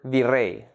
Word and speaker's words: virrey: An example of this would be the word virrey, made up of two syllables, vi and rey. The last syllable, rey, is the stressed syllable.